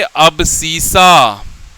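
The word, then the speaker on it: abscissa: से जानते हैं और जिसका नाम हम लिखेंगे अबसीसा। अब स्पेलिंग क्या होता है जी?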